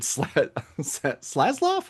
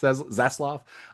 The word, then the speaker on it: Zaslav: Is a reminder that the guy that canceled Sesame Street, Yeah, David Slasloff. How do you pronounce Zaslav. it? Zaslav.